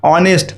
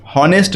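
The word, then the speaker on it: honest: কারণ কি, এইচটার যখন আমরা উচ্চারণ করছি, এইচের উচ্চারণ কিন্তু হ এখানে হচ্ছে না, উচ্চারণটা কী হবে, অনেস্ট, হনেস্ট নয়, অনেস্ট।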